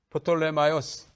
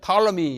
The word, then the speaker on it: 프톨레마이오스: 이건 영어로는 이제 P 발음하지 않잖아요. 탈러미 이렇게 발음합니다. 그러나 이게 영국 사람, 미국 사람 아니니까 프톨레마이오스가 원래 이름이에요. P를 발음하는 것이 맞습니다.